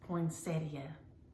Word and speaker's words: poinsettia: It's poinsettia, poinsettia.